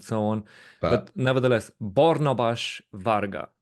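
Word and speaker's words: Barnabás Varga: but But nevertheless, Bornabas Varga, that is actually his name, because that is the pronunciation for Hungarian names, Bornabas Varga.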